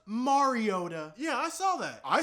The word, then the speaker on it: Mariota: It's actually pronounced Mariota.